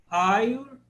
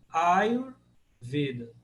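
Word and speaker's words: Āyurveda: Ayurveda. Porque o A é longo. Ayurveda.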